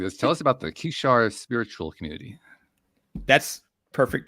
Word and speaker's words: Kishar: Tell us about the Kishar Spiritual Community. That's perfect pronunciation.